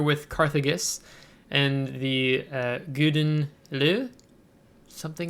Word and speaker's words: Gouden Leeuw: of this ship uh previously i've always called this the golden lou so uh and i realized today that there's no uh l in this so um i think